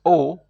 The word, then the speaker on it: aux: and then you have a u x which is also pronounced o then you have the